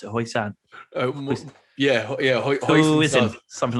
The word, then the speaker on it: hoisin: Yeah, hoisin, something like that. Yeah. Yeah, my mate calls it Hushin sauce, and I'm like, you Irish fucker, man. Like, it's hoisin, and he's like, I